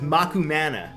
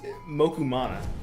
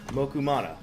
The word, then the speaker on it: Mokumana: Come on, it's Mokumana. It's the international way of pronouncing it. The Japanese way of pronouncing it. That's the way you pronounce things. Yeah. Mokumana.